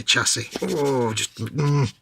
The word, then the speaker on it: chassis: Don't say chassis. I love it. It's such a thing, isn't it? Why do they do it? Why do these people do it? It's a French word. Pronounce it like a French word. If you're gonna borrow words from other languages, don't completely just change them. It's not how it works.